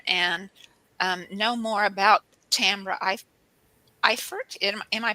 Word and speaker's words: Eifert: I'm excited to have as our guest because I'm really wanting to learn here and know more about Tambra Eifert. Am I pronouncing it right, Tambra?